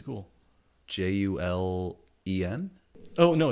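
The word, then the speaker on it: Juilin: episodes I think you were right on the pronunciation of the the Terran thief's catcher jewel and jewel and sand are julen yeah and I think I started saying Julian yeah in my head you know when I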